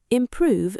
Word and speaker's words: improve: The stress is on the second syllable.